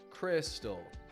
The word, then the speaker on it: crystal: Crystal, busy, really, that make an I sound, but the spelling isn't exactly an I sound.